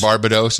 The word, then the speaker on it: Barbados: on the last show barbados that's the official pronunciation barbados it's not barbados it's barbados and why they